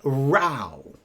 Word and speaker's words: row: But then again, we can also say row. That rhymes with cow and now.